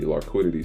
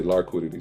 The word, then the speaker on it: Larkquidity: So when you address us, you say Larkquidity sweep, not liquidity sweep, because then you would be saying it wrong.